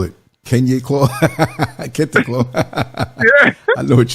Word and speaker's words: Kente: It's like Clark Kent, like say Kente. Kent, like Kente.